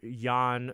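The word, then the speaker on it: Jan Hammer: Yan spelt with a J Y on hammer J and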